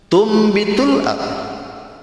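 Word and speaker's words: تُنْبِتُ الْأَرْضُ: menandakan bahwa ketika membacanya nun mati ketemu ba itu harus ke mim. Itu yang disebut dengan iklab. Iklab itu kan diambil dari bahasa qalaba, artinya nukarin. Nukarin pengunian bunyinya, ba itu ke mim.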